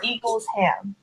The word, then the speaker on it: Eaglesham: Jeff Johns and Dale Eaglesham or Eaglesham. How do you say that? Yeah. I Yeah, said Eagle Eagle Sham. Sham. Okay. It's Eagle Sham.